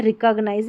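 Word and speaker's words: recognize: Eyes हो गया, फिर यहाँ है रिकग्नाइज, क्या है रिकग्नाइज, है कि उच्चारण दे रखा है, RE, री, कग, COG, कग, फिर नाइज, N में ही जोड़ना है, तो ये जैसे L में जुड़ा आइज तो लाइज, N में जुड़ा तो नाइज, ऐसे।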